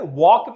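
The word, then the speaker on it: walk: में P silent है, वॉक में एल साइलेंट है, नाइफ में के साइलेंट है।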